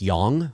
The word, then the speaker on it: Yonge: Street it's spelled y ou ng e like young but it's pronounced young and it's sort of one of